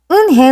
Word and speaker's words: Eun-hye: Eun-hye looked quickly at Mr. Kim, then turned to Joey. She nodded slowly. Yes, it's pronounced Eun-hye, and it means grace, Mr.